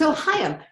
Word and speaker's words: Ohayon: your last name I'm going to let you pronounce it for us it's Ohio welcome to the show I am so glad